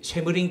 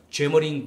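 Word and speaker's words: Semmering: 영어식 발음으로 하자면 쇠머링 레일웨이, 쇠머링 철도입니다. 근데 원래 독일어 발음으로 하자면은 죄머링 방, 죄머링 기찻길이 됩니다.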